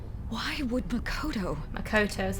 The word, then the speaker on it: Makoto: Makoto is how you say it.